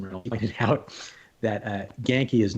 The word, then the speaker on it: Genki: Jason Reynolds figured out, like, no, it's Japanese, Genki, Genki. Oh. But so it is pronounced Genki, because that's always a debate.